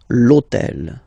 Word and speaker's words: l'hôtel: All right, and third example, so I took on purpose this hôtel, okay, because it starts with H, but remember that in French we don't pronounce H, okay, so basically the